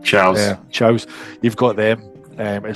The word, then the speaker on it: Chao: And also you had the Chaos, or the Chows, what you might call them. How do you pronounce it? Chows.